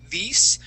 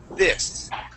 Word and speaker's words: this: word this okay um when you would pronounce this word you use the spanish i sound saying this because of this all right but uh we want to use the short i sound and say this this try that yes there